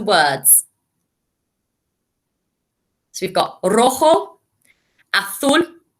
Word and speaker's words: azul: So we've got rojo, azul, amarillo, verde, and naranja. Remember, the J makes a sound. Rojo, naranja. The Z makes a sound. Azul.